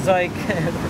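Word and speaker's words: Zhik: I mean talking about Ze it's pronounced like Mike uh obviously I'm person name Mike but uh they've been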